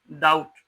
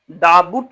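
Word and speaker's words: doubt: जैसे मान लेते हैं लिखा हुआ है डी ओ यू बी टी पढ़ते क्या है? डाउट डाउट डाबुट नहीं पढ़ते हैं।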